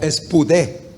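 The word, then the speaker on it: σπουδή: Bueno, la palabra que se ocupa en español para diligencia viene de lo que pronunciaríamos en nuestro idioma como espudé.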